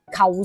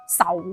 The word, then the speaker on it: 仇: 不過求姓亦都有人講仇姓，又譬如喺甘肅方言裏面有將呢個姓氏讀成似仙，四川方言有人將呢個姓氏讀成巧仙，咁所以都係呢一句說話名從主人啦吓。